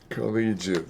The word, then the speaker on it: collegiate: Collegiate, the double L, and then it turns out the pronunciation is completely different.